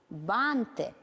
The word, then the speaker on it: банты: слове это ударение согласно слова алфавит и банты написаны с указанием правильного ударного гласного звука алфавит банты слова которые пишутся одинаково